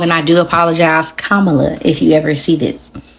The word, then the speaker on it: Kamala: __ ] say it it's Kamala okay kamla Harris it's not Cala I was saying that wrong and I do apologize Kamala if you ever see